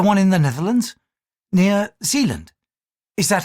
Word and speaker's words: Zealand: Near Zealand? Is that how you pronounce it?